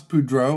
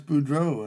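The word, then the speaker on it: Boudreaux: They're like, "Oh, you're Chance Budro." And he's like, "Yeah, that is right. I am Chance Budro. Uh, it rhymes with Cluso.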